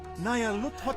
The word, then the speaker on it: Nyarlathotep: This phrase is pronounced Nayarhut, or more likely, Luthotep. Nayarluthotep. Nyarlathotep?